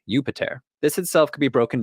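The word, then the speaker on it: Iuppiter: let's take Jupiter first in Latin his name would have been pronounced something like yupiter this itself could be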